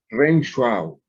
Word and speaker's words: Renshaw: región chau chau chau sé que nosotros pronunciamos a w como av renshaw ok esta revisión entonces